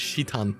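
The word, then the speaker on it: Citan: It's going to be Shitan, I imagine. His Japanese pronunciation. I was right. It's Shitan in Japanese.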